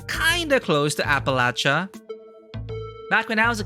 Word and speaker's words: Appalachia: The Jersey Devil is like the granddaddy of North American cryptids, and it's kinda close to Appalachia.